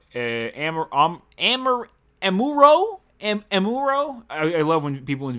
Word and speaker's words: Amuro: the shows about amber amber and Muro and Amuro I love when people in videos pronounced wrong to a fan